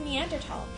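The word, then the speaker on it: Neanderthal: some weird stuff like a little bit of meander tall and yes that's how you pronounce it Meander tall stay with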